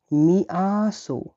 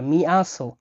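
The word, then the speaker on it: мясо: মাংসকে ডাকা হয় মিয়াসো, মিয়াসো মানে হলো মাংস, মিয়াসো মানে মাংস। তাহলে বাংলার সাথে কিন্তু মিলও পাচ্ছি আমরা, মিয়াসো, মাংস, মিয়াসো, মাংস, মিয়াসো।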